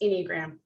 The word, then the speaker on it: Enneagram: So Enneagram, pronounced Enneagram. It is Ennea, meaning 9, gram, something written or drawn.